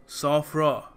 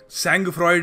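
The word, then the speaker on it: sang-froid: देखो इस शब्द को प्रोनाउंस करने का सही तरीका है सॉफ्रा, सॉफ्रा, बिल्कुल सैंग फ्रॉइड नहीं है, सॉफ्रा।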